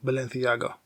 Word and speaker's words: Balenciaga: Eduardo Camavinga made history by becoming the first footballer to walk the runway for Balenciaga. And yes, I pronounced it properly.